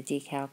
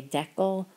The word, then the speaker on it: decal: just literally soak that in water and the decal comes right off and yes it is pronounced decal so I don't know in other